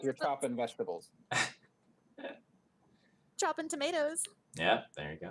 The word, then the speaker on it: Chopin: very it has that like constant rhythm it's pronounced choppin oh yeah i'm sorry mr choppin or is it is it chopin it's difficult to me he's been dead so